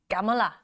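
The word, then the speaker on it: Kamala: Gamala. He has his emphasis on the last syllable.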